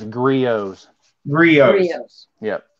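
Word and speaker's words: Griot's: that right now it's griot z3 oh yes yep the T is silent Rossetti n yes has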